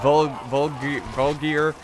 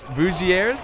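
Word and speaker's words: Voulgier: I think I always pronounce it like Vulgier or something. It's Vougiers.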